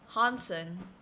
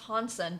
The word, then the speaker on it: Hansen: y'all are very awesome honson it's actually pronounced hansen because it's a danish no it's a norwegian last name making it worse